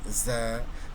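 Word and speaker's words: ز: আর যদি মাছ ওপরে একটা নোক্তা দিয়ে দিই হয়ে যাবে কি জা। জা বর্ণটির উচ্চারণ হলো আমরা যে ঝগড়া, ঝই ঝই, ঝি ঝি, ঝুমঝুম, এই ঝা।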